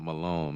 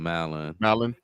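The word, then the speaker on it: Mallon: So it's not Malone. Malin. Yeah.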